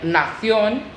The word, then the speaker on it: nación: So we just need to change it in CION with an accent on the O.